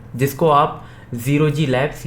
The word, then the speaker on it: 0G: अब देखो, इसका प्रोनाउंसिएशन, इसका जो नाम है ये एक्चुअली में ज़ीरो जी मतलब ज़ीरो ग्रेविटी लैब्स है। मैंने भी जब अपनी प्रीवियस वीडियो बनाया था तब मैं भी इसे ओजी प्रोनाउंस करता था। एज जब स्टार्टिंग हुआ था तो काफ़ी तक कन्फ्यूजन था कि ये ओजी ही दिखता था, तो मोस्टली ओजी ही साउंड करते थे।